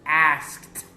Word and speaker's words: asked: For example, the verb ask. Ask ends with the letter K and the sound of the letter K. So, we pronounce the ED as a T. I say, you repeat. Asked. Asked. The pronunciation of this ED is a T.